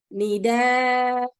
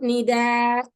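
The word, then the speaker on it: نداء: But when we stop, we still have to bring the madda. We still have to say bina'a, ma'a, nida. Okay, we have to stop in that way. It's not nida or ma.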